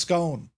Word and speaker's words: scone: It's pronounced scone. Yeah, not scone. It's not scone, hummingbird. It's scone, right?